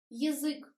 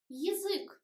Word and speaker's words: язык: Язык. We write ya, but we pronounce e. Язык.